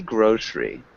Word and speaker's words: grocery: And Adela, maybe grocery. Can you repeat grocery? Grocery. Yeah. And so it's almost like that second E isn't pronounced, so it sounds more like grocery.